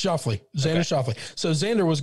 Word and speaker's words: Schauffele: Xander Schauffele. No, it's Schauffele.